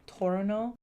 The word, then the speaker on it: Toronto: People in Toronto pronounce Toronto as Torino. Torono.